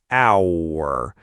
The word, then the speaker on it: hour: Silent in hour, but pronounced in house, house.